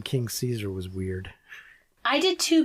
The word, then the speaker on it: Caesar: like because they say King C seesaw seesaw like they're no it's spelled it's spelled Caesar like Julius Caesar in the HBO dub version they say Cesar Cesar Cesar I just found it